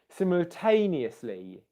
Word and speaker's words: simultaneously: Okay, so what we've got, okay, Ho from Singapore, you guessed it right. You said third syllable, simultae. You're absolutely right.